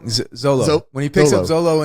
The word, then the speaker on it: Zolo: Well, even leading up to that, when he picks up Zulu in the car. Yeah. Did I say it wrong? Zolo.